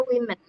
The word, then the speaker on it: women: Bacanya women. Kalau yang plural, yang singularnya kan woman. Women. Bacanya WOMEAN. Kalau ini pakai E, bacanya women.